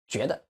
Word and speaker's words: 觉得: For example, think. In Chinese it is 觉得. Because the is neutral. So we are going to do it naturally. Stress the first one. It becomes 觉得.